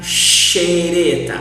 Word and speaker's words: xereta: When a word starts with X, always we will pronounce like this. Sh, xadrez. A chess, for example. Pay attention here on the examples and how do I pronounce. If the word starts with X in Portuguese, sh, xadrez, chalé, xícara, xereta. Always do this.